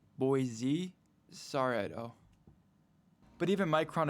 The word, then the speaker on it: Boise: Micron's new fabs in Boise start actually producing. Good job, Idaho. Potatoes and RAM. With more New Yorker on 2030. Admitted at One Pier. Just found out it's pronounced Boise.